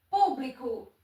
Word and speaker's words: público: Público. Público é oxítona, paroxítona ou proparoxítona? A sílaba tônica é a antepenúltima, então ela é uma proparoxítona.